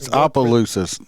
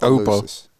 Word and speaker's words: Opelousas: It's Opelousas. It's not Opelousas. It ain't like Oompa Loompa or something.